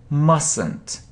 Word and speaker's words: mustn't: mustn't say it yes we don't say t mustn't mustn't okay next should